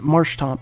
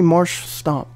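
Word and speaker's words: Marshtomp: I want to say Marsh Stomp, but that's not right.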